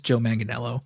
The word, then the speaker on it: Manganiello: him getting interviewed recently he says joe manganiello manganello yes i watched that too